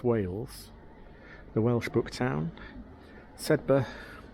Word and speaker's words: Sedbergh: just asked for the what is the proper pronunciation of the town and it is said said we also asked how